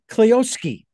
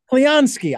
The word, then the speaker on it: Clionsky: Emily and Mitchell uh cleowski did I get that right thank you for joining us close there's an n in there so it's cleanski cleonski I forgot the N